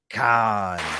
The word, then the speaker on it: Kahan: So yes, it actually is spelled different, but pronounced the same.